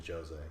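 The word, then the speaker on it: Jozea: knows air hose there it's definitely Josie yeah actually yeah well it's it's spelled jay-z yeah oh my gosh anyways he's from Big Brother originally but he's actually in champs vs.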